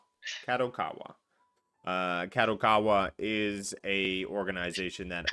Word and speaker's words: Kadokawa: So it said Kadokawa.